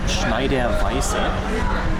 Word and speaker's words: Schneider: right here's the story behind this it is pronounced schneider and it is my absolute most favorite beer